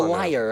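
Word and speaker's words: lyre: symb a musical symbol the liar I think is how it's pronounced the liar yeah which is like something you would pluck here I'll hold it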